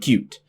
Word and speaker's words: Qt: First of all, Qt, Qt, the Qt toolkit, is pronounced like the word cute.